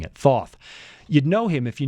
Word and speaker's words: Thoth: It's like saying hot sauce, hot Thoth, but you're mispronouncing it, Thoth.